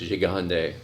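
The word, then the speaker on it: Gigandet: found out last night his name is pronounced jande oh wow you who'd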